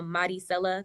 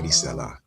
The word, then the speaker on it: Maricela: Maricela, right? Close, very close. It's like the R is a D, so Maricela. Maricela. Yes.